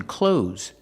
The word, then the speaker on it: clothes: Pronunciation, clothes. Use the long O like no and go, clo, and the Z sound like zebra, z, clothes, clothes. I'm wearing clothes.